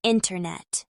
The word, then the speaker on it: internet: In casual speech, NT can become a nasalized N sound with the T disappearing, especially in words like center, center, winter, winner, and internet.